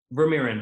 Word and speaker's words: Vermeeren: Check out his YouTube channel as well as his name, which is the one and only Doug Vermeeren. Yes, indeed. Did I pronounce that correctly the second time? Vermeeren, but that's all.